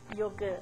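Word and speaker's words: योग: A pronúncia correta no sânscrito é y yoga. Yogã. É o a nem yoga nem yoga. É um pouquinho diferente.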